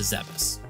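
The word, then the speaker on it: Zebes: with him to zebus a quick aside here is it zebus or Zees I grew up pronouncing it as Zeb so it sounds weird to me to say Zeus we didn't have the internet at the time to correct us or voice acting to pronounce everything for us so I'm just going to alternate between the two pronunciations to make everyone mad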